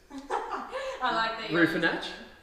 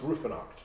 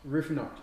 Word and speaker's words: Ruefenacht: a shot yeah please raffinate you're very close so it's ruefenacht roof knock yes it's a what